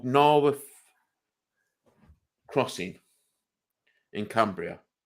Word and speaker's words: Naworth: It's called Narworth Crossing in Cumbria. It's now on my bucket list. And that is spelled NAWORTH crossing.